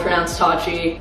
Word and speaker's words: Pronounced TATCHI: It's called Pronounced TATCHI, and you guys can follow the Instagram, which